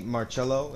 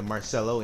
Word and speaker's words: Marello: it's like I was I heard the the Holy Father say marello it's like oh so that's the right way to say his name and then I'm pretty